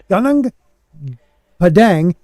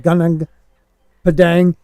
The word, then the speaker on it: Gunung Padang: yourself really am I saying it right okay gunung Padang is one of many sites like gunang Padang and G gunang Padang was definitely built by